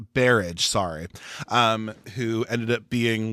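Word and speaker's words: Berridge: If you don't know what the Funhouse is about, it's about this teenage girl, Amy, played by Elizabeth Brennanridge. How do you say her name? It's Barrage, sorry.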